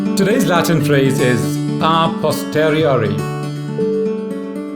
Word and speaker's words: a posteriori: today's latin phrase is a posteriori some people also pronounce it as a posteriori that's again a british pronunciation it means from later